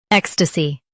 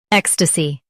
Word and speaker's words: ecstasy: Ecstasy. Now read the syllables shown on the screen naturally. Ek. St. C. Ecstasy. Stress ek and soften stussy.